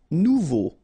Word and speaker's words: nouveau: Nouveau. Remember, combination of a and u together, it's o. So you get nouveau.